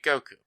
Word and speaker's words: Goku: With the Sino-Japanese system, pronouncing 5 in Japanese sounds like go, while 9 is pronounced like ku. Put them together and you get Goku.